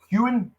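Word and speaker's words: Heughan: Is it Hewen? Yes. That's the main guy. I just want to make sure I'm pronouncing his name correctly.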